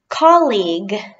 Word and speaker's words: colleague: suit bathing suit Kalina colleague colleague with a hard G colleague in Galatia college